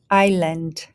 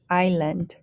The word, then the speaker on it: island: is the first syllable the s is silent second syllable land land so we have i land island island this one silent t